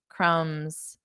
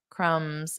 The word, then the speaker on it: crumbs: Crumbs. Crumbs. And the B is silent.